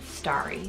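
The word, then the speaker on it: Starri: Also, when we were choosing between like a girl's name for Aries, his name would have been Starry, so spelled S-T-A-R-R-I, I think is how we would spell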